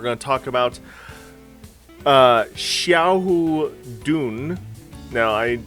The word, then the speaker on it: Xiahou: to talk about uh Xiao Dune now I I think I mispronounced the X in a previous video I think the x is a sh sound so let me know